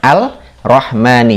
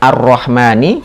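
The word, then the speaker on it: الرحمنِ: "al-rahmani," itu berbeda, kan, "al-rahmani." Jadi, tanda tashdid yang seharusnya ada, sepertinya kita lewati dan abaikan. Hal itu menyebabkan huruf lam terdengar kembali. Seharusnya "arrahmani," tetapi kita membacanya sebagai "al-rahmani." Ini adalah sebuah kesalahan.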